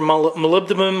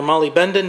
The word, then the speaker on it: molybdenum: Moly, which is it's just an acronym for molybdenum or molybdenum, depending on how you want to pronounce it.